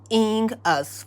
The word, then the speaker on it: 犬: And is pronounced inu in Japanese.